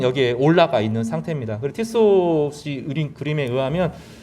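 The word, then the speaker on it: Tissot: 이름이 프랑스 발음일 것 같으니까 티소라고 하는 사람이 있는데, 오늘 주보에도 그림을 그린 사람이 그분입니다.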